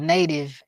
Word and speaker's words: NATV: It's called Native, and they serve traditional cuisine. Yeah, that's NT. How do you spell it?